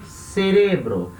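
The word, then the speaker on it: cerebro: a centro tá e a sílaba tônica dessa palavra é a segunda da outra em português a sílaba tônica é a primeira cérebro espanhol a sílaba tônica é a segunda cérebro tá não vai falar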